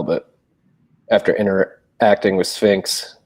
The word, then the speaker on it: Sphinx: after inter acting with Sphinx sorry for calling it Shinx for a while there too no worries um uh